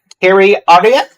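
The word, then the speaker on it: Keri Arya: And please forgive me if I get your pronunciation of your name wrong, Harry Arya.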